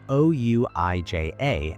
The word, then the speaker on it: Ouija: It is spelled O-U-I-J-A and pronounced Ouija.